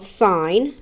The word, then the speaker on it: sine: the first one is called sign and it's spelled SI n e we shorten it to